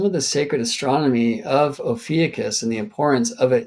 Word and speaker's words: Ophiuchus: Although back then I was pronouncing it Ophiuchus, but I was corrected in that video in the chat. So can't remember by whom, but thank you for that. So Ophiuchus is a better pronunciation in the old Greek.